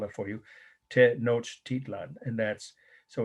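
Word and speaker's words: Tenochtitlan: with this our first one the founding of te noch titlan i learned how to pronounce it from a person from what is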